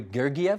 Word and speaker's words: Gergiev: Your fellow conductor, and you're going to have to help me with his last name, Valery Gergiev, is that how you say it?